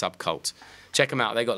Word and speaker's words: SVBKVLT: It's SVBKVLT, but it's pronounced Subcult.